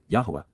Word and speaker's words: Yahowah: be acceptable to promote recovery, Qowl imperative, Yahowah, Yahowah, the proper pronunciation of the name of Eloah, God as